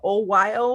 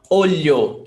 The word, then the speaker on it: olho: Can you say that it's O-Y, like a O-Y-O, like Oyo? Olho, lha, lha. So there's a very light L sound in there.